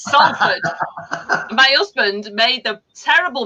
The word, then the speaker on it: Salford: Because everybody else was going Salford, and I went Salford. It's Salford.